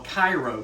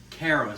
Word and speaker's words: Cairo: And there's another town, Cairo, which in Egypt we call Cairo, but in Georgia it's Cairo, like the syrup, Cairo syrup. It's not Cara syrup.